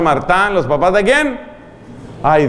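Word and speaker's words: Martin: Como los esposos de apellido Martá, se escribe Martín, Martá. ¿Los papás de quién? Ambos canonizados. ¿Los papás de quién? Apellido Martín, se pronuncia, se escribe, pero se pronuncia Martán.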